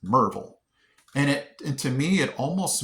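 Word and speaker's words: Maryville: I think I'm still almost pronouncing Merville with 3 syllables. I think I call it Merville or something like that. But when you're a local here, it's just Merville.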